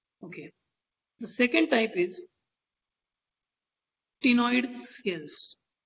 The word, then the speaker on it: ctenoid: The second type is ctenoid scales. Ctenoid. C is silent in this case.